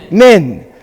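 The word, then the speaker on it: מן: How do you pronounce it? Min.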